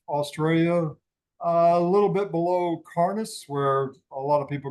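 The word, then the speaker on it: Cairns: Northeast part of Australia a little bit below carnice where a lot of people go to do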